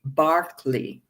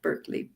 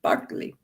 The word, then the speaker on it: Berkeley: England, an Anglican bishop whose name is pronounced George Barkley, if you're British, not Berkeley, Barkley.